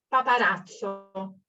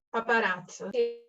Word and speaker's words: paparazzo: No sé exactamente cómo se pronunciaría en italiano correctamente. paparazzo, paparazzo.